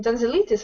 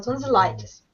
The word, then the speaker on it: tonsillitis: Не tonsillitis, а tonsillitis. IES.